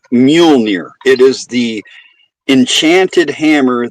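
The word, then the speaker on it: Mjölnir: Say it like this. It's it's Muolnir.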